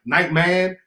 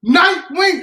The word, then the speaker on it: Nightwing: And then he kept saying his name wrong. He's like, Nightman, something else. I'm like, brother, Nightwing.